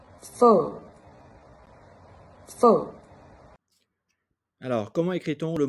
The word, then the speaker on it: phở: Donc, E, comme dans l'exemple avec la soupe fa, qui se lit un peu différemment dans le Nord. Phở.